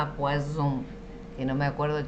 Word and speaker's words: poison: Bien, veneno, poison, poison. Y pescado es poisson, sonido de S, poisson.